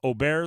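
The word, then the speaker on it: Åberg: klay's in first uh oer L ludvig oer if you pronounce the way his name looks it'd be ludvig Aber Berg I think that's how he's a lot of people know him as uh he's four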